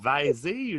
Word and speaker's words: vais: C'est pas le verbe vaiser. Non, c'est je vais, V-A-I-S. On prononce même pas le S.